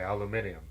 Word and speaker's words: aluminium: said yeah Nathan may like the British say aluminium I could say that that's